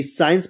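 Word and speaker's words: science: प्राय साइलेंट होगा। जैसे SCIN सी, साइंस पढ़ेंगे, साइंस मतलब होता है विज्ञान।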